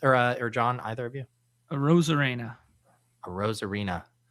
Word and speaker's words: Arozarena: Arozarena. It sounds like the new Latin spinoff to Gil's Arena.